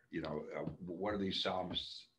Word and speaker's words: Som: But my name is Psalm. It could be spelled like P-S-A-L-M. Psalm. Psalm. Mm-hmm. But my spell, S-O-M. S-O-M.